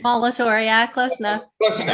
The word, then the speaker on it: Molitor: Did I pronounce that correctly? Molitor, yeah, close enough.